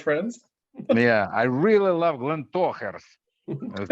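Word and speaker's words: Glentauchers: It's actually Glen Tochers. Glen Totchers. Toe, like hairy toes, toe hairs.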